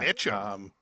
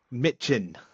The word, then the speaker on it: Michin: Mitchum. It's not that comedy guy, Mitchum. Mitchin. With an N at the end.